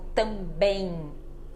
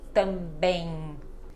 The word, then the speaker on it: também: então ela não muda mas quando ela tá no final de palavra não é para fechar a boca ela fica com som de n como também também ninguém ninguém olha só então eu não fecho a boca e ela fica com este som de n e não de m mais mas somente nesses